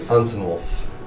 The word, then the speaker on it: Unsynwilf: It's UNSYNWILF. And it's Unsenwolf? Unsenwolf.